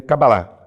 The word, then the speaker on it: cabalá: a Odete e tal usar eh o termo cabalá né não cabala mas cabalá para haver uma uma um consenso né da pronúncia então a cabalá em